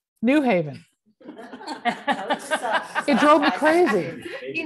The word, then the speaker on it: New Haven: I pronounce it New Haven, yeah, not New Haven.